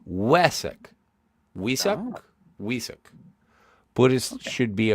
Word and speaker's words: Wesak: Wesak pronounced like we suck. Wesak.